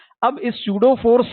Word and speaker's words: pseudo: है भाई सूडो force सूडो force ठीक है सूडो का मतलब होता है नकली अब देखो स्पेलिंग ही नकली है प प से शुरू हो रहा है बोल रहे सूडो ठीक है पी साइलेंट जो भी है नकली